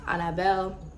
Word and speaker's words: Annabelle: It is pronounced Annabelle, like Anna and then Belle, so Annabelle.